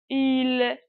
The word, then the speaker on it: île: Lorsque on trouve i avec un accent circonflexe, automatiquement, on lit i plus lent, comme s'il y a deux i.